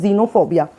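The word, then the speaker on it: xenophobia: तरीके से होता है अब इसको हम पढ़ते हैं जेनोफोबिया जबकि हम तो हमेशा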